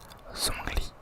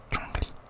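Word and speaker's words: Zhongli: Il y a la team qui dit Zongly, donc qui prononce le Z ou la team qui dit Jungly. qui prononce pas du coup le Z qui la prononce un peu plus à la chinoise.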